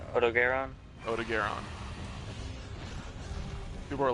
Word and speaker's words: Odogaron: Odogaron.